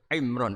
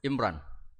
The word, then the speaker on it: Imran: Dari sana Bugis Imran, jadi orang sana nggak pakai ro. Kalau orang ro jadi pakai ra. Kalau ainnya? Ain pakai ain. Berarti apa? Imron gitu. Ya kalau sana tulisan KTP Imran. Apa bacanya orang-orang Sulawesi? Apa? Imran.